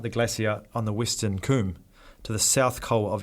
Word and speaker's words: cwm: you're reading about Everest this word cwm it's actually pronounced Kum and it's this kind